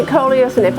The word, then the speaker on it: coleus: I'm pronouncing it coleus, and if I'm pronouncing it incorrectly, let me know.